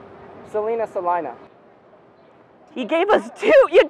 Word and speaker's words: Salina: thing she's here huh salinaa Salina you know some people have said Selena I've heard it yeah like Selena Gomez canona canona uh well